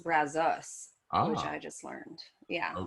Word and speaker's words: Brazos: you still okay yeah yeah so apparently it's pronounced brazos which i just learned yeah i love it